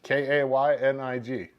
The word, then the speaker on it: Koenig: And he told me how to pronounce his name, and it was Kaynig. But it's spelled Koenig.